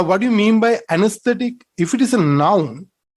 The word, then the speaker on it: anesthetic: anesthetic say it again anesthetic anesthetic here this syllable is stressed and aesthetic when you